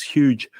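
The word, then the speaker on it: Hooge: We visited this museum at a place called Huge Crater. Now that's spelled H-O-O-G-E, not huge as in big.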